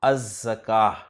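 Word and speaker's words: الزكاة: ज़काह पर अलिफ लाम दाखिल होगा तो लाम नहीं पढ़ा जाएगा अज़-ज़काह।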